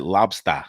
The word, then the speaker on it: Lobsta: that b-s-t-a you know you pronounce it lobster like the way deborah had even keel would say yeah the bostons so